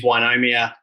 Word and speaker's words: Ynomia: chance to pitch today the correct pronunciation is is wynomia we were founded in